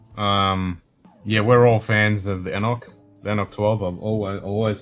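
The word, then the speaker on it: anCnoc: Anok, I think it's pronounced. It's Anok.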